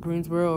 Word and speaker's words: Greensboro: about Greensboro I think how you say it Greensboro or fville uh I might go out there